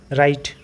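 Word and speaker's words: write: डब्लू के साथ आर हो तब उसको र ही पढ़ते हैं, जैसे कि एच डब्लू जो है वो साइलेंट हो जाता है, जैसे कि राइट।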